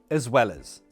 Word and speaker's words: as well as: Pronunciation. As well as. Schwa sound, uh. Here and here. As well as. Also notice, the S sounds like a Z.